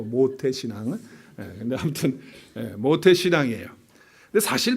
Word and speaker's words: 모태신앙: 잘 발음하셔야 돼요. 거기다 미음에다가 오에다가 시옷하면 안 돼요. 모태, 그게 아니고 모태신앙.